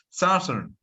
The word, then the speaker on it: southern: However, it's surprising that the right pronunciation is southern.